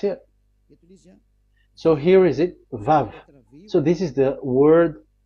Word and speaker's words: Vav: So the word, the shape Vav is really pronounced V, like Vogue. That is it, pronunciation. So here in this side, it's pronunciation. This is pronunciation. So according to the old Hebrew word today, those who, the owner of the words, I mean, so it's a V. So don't change it into W.